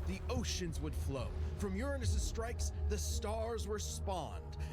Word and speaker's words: Uranus: I got to say impressed that they managed to say Uranus without saying you're anus they managed to find the one way to pronounce it they managed to find the one way to pronounce it without it being without making everyone laugh my God they're too